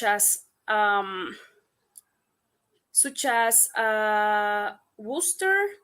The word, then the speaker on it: Worcester: um such as uh Worcester the name of English city which too many students surprises pronunciated like exactly Wooster so and it's important